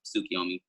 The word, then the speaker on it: Tsukiyomi: So one, it's Tsukiyomi. That's Tsukiyomi. Tsukiyomi. Said like tsunami with a silent T.